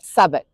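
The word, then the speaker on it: Southwark: Then we have the ones with silent w Dalich Woolitch Greenwich Chisik Warick Avenue and Sabuk.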